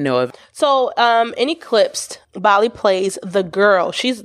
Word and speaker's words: Gbale: having a conversation with Bali yes the beautiful Bali the beautiful Bali Bali is of Liberian descent so her name is old GBA le but that is pronounced Bali the G is silent and I think that's